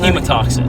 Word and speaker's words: hemotoxic: Hematomic between, how do you pronounce it? Hemotoxic.